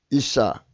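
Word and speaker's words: אִשָּׁה: 그러니까 여자가 이샤 발음으로 이샤인데 이사의이죠.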